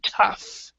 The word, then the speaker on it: tough: as pronounced has the pronunciation pronunciation so we pronounce it tough and it means difficult or strong so in